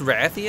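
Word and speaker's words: Rathian: __ ] me oh it's pronounced rathi and I always said Roth yo yo she's [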